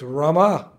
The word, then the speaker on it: Rama: Hare Krishna, Krishna Krishna, Hare Hare, Hare Rama, Hare. Not Ram Ram. No. There's 32 syllables. If you take out the Ram A, you leave out something, and the prescription doesn't work.